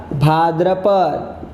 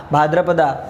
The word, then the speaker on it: भाद्रपद: सब में देखो है आषाढ़ा, स्पेलिंग पढ़ते ए आगे लगाना है, श्रावणा, भाद्रपदा, लेकिन वो भाद्रपद है, पढ़ते समय भाद्रपद पढ़ना है, लेकिन लिखते समय ए कंपलसरी तुमको लगाना है।